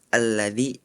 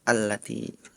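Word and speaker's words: الَّذِي: Yang ayat terakhir surat Al-Quraisy harus membacakan alladzi at'amahum min ju'. Tapi tadi Ananda Farel membacanya allati.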